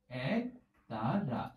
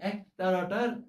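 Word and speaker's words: একতারা: এটি হবে এক তারা দেখো এখানে একটা বিবৃত উচ্চারণ আমাদের সামনে রয়েছে এর পাশাপাশি আমাদের সামনে বেশ যেই উচ্চারণটি রয়েছে সেটি হচ্ছে সংবৃত উচ্চারণ অর্থাৎ এ উচ্চারণ করলাম আর এখানে এ উচ্চারণ করলাম অর্থাৎ অ্যাপল যেভাবে আমরা উচ্চারণ করি এ ফর অ্যাপল ইংরেজিতে ঠিক সেরকম ভাবে এই এক তারা এ টা এসেছে আমরা এখানে এক তারা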